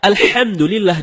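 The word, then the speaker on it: الحمد لله: kedua ketika membaca alhamdulillahirobbilalamin ada membaca alhamdulillah tidak menggunakan hak dalam kerongkongan kalau kita membaca alhamdulillah dengan head dalam kerongkongan yang artinya segala puji bagi Allah dan sebaliknya kalau kita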